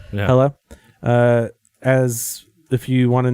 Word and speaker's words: Hela: That's how you pronounce it? Yeah, Hela. Yeah. Hela.